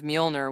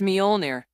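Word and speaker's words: Mjölnir: The pronunciation of Molner was very similar to meow meow. Daisy tried calling out in confusion. It's Molir, the great Thor's hammer. Thor corrected her, displeased.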